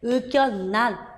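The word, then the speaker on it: 의견란: 상견례, 의견난 다 유마의 예외라서 비유마처럼 니은으로 발음이 납니다.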